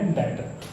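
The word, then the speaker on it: debtor: एस तो इलावा data, बेटा बी साइलेंट है डेटर।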